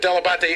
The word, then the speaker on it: Delabate: No, my father always called himself Delabate, and he said that he just Americanized it, but Delabate is, in fact, the proper pronunciation.